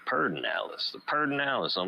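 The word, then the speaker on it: Pedernales: in that pair perdinalis they say perd they call it perdin alice but it's spelled p-e-d but they say per personalised i think it's p-e-d-e-r-n-a-l-e-s but they say perdinalis the pardon alice i'm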